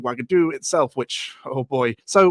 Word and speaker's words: Wagadu: and then there's the origin of the name wagadu itself which oh boy so we're told that the name is pronounced wagadu as I've been pronouncing it which just so